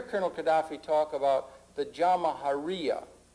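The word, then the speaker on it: Jamahiriya: perspective you'll hear Colonel Gaddafi talk about the jaharia pronounce jaharia which roughly translates an Arabic term which R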